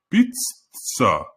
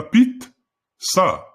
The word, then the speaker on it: пицца: например в слове пицца правильным произношением будет не пицца а Пит са Пит са Но пишется две буквы ц читается Пит са пица также произносится И